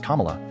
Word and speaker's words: Kamala: It is Kamla. He pronounced her name correctly on that call after mispronouncing it in public all through the campaign.